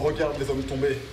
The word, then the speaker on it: Regarde les hommes tombés: Hey, this is Thomas from Regarde les hommes tombés. Once and for all, please pronounce it like real French.